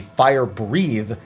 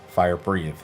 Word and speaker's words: Fire Breathe: This just knocks everyone towards the wall before the boss aims a Fire Breathe at a random player you'll need to quickly avoid. Yeah, not Fire Breath, Fire Breathe.